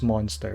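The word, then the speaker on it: Mon3tr: this thing is um the the the official game pronunciation is monster but i like to call him month later because that's how it's spelled it's m-o-n-3 and r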